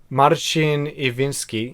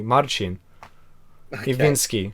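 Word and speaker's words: Marcin Iwiński: How do you pronounce that? Marcin Iwinski. Easy. What's wrong? Okay, good. Okay. Why Americans can't say his names? It's easy. Marcin Iwinski.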